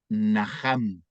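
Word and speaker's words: נחם: aquí hay otra palabra la palabra hebrea najam nah a m naham se pronuncia Y esa palabra hebrea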